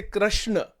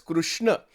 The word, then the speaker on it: Krishna: in Gujarat people don't say Krishna they say krashna that's a total mispronunciation you know but but that is that